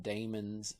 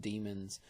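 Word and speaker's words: daemons: In the Unix Linux world, Macintosh world they call them dammons sometimes pronounced demons.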